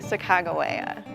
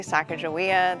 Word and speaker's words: Sacagawea: with her first name I say Chicago Anna it used to be Sacagawea that's how it was when I was a kid but historians think the new pronunciation is more like what Lewis and Clark actually called her the significance of the